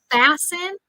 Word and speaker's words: fasten: how do you say fasten fasten remember that uh word has a silent T fasten your seat belt